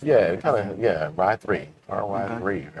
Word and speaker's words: Ry3: But Ry3 is what we call this. Mhm. Ry3, right? RY. The E is backwards in the Or just Rye? in 3. Ry3. Yeah, kind of. Yeah, Ry3, RY3, right?